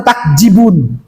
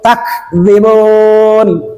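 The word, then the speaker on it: تكذيب: Tetapi kayak gini takzibun masih juga membacanya takjibun.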